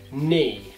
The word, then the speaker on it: knee: quando nós tivermos uma palavra que tenha a letra K, e logo após essa letra K nós temos a letra N, a letra K na palavra vai ser uma silent letter. Então nós não iremos pronunciar a letra K. Como, por exemplo, knee, no, knife, knock.